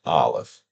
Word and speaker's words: aleph: Here it is written in English so that you can say it, aleph.